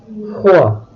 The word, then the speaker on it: froid: All other consonant letters are usually not pronounced. Froid, le point, un dragon.